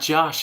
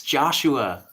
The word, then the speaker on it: Joshua: but um anyway also it's not Josh it's Joshua you don't leave out two of the syllable that's okay I'm sure